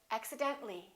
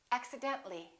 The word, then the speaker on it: accidentally: when we add accidentally we don't pronounce the AH we say accidentally accidentally one more general when